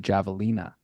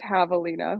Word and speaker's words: javelina: So it's, well, first it's pronounced javelina with an H.